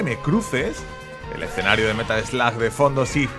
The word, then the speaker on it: Metal Slug: El escenario de Metal Slug de fondo, sí, se pronuncia en Metal Slug, ¿vale? Para quien quiera saberlo. Que vi el otro día que me dijeron, ah, Jin, es Metal Slug, se dice Metal Slug. No, no se dice Metal Slug. Metal Slug se escribe, amigo. Aprende inglés.